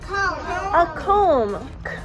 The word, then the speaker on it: comb: What about you brush your hair with a comb? Comb. The B is super shy. It's not saying anything for them.